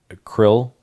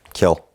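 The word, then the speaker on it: Khill: the case called uh krill. Am I pronouncing that right? Kill. Kill. An unfortunate last name in that circumstance. K h i l l 2021 to SCR 948.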